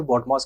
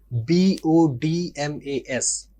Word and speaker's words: BODMAS: अब नॉर्मली पढ़ाने वाले इसे बडमास कहते हैं। लेकिन इसके सही pronunciation बी ओ डी एम ए एस। बी ओ डी एम ए एस है।